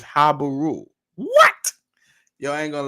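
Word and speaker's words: Habiru: However, these people were mentioned in Sumerian cuneiform as the Sagaz, and the pronunciation, according to William F. Albright, is Habaru.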